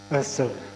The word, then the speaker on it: Ursula: Oh, how do you pronounce that? Ursula.